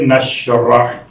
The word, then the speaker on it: نشرح: ہے سورہ مبارکہ الشرح، اس کا ایک انداز تلفظ الشرح، ایک انداز تلفظ الانشراح، ایک انداز تلفظ ہے نشرح.